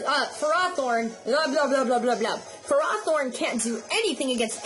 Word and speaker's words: Ferrothorn: the sandstorm so uh Ferrothorn not Ferrothorn that's not how you say it I got to break that habit you say Ferrothorn that's how it's pronounced for rothorn uh